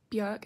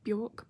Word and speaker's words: Björk: So yeah, it was a great week, and I'm gonna start saying Björk instead of Bjork because that is how you actually pronounce her name.